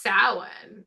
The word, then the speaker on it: Samhain: Yeah, but it's pronounced Samhain.